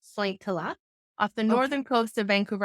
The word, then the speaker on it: Sointula: Yes, I grew up in a very small Finnish fishing village called Sointula, pronounced Sointila, off the Okay.